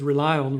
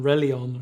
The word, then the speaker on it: RELION: the the kind of the joke was that it would be software you could rely on yeah and that's why you pronounce it rely on rather than ReliOn or something like that so and that was